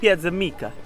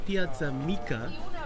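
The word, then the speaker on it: Piața Mică: Piazza Mica. Did I pronounce that right? All right. Yeah, but not with an Italian accent.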